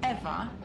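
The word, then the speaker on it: Ewa: Besides, Eva is spelled E-W-A, not E-V-E.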